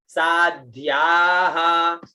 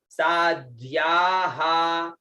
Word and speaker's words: साध्याः: फिर आता है सा आधा द आधा ध और या और विसर्ग, उच्चारण साध्याः, तो सा चला गया नीचे, साध्याः है ना, साध्याः ऐसे, साध्याः।